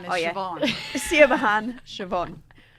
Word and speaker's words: Siobhan: Siabahan is Oh, yeah. Siobhan.